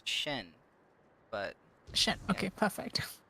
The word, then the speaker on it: Sheen: Wait, is your name actually Sheen or Sean? I kind of forgot to ask that. The way that it's normally pronounced is Shen, but...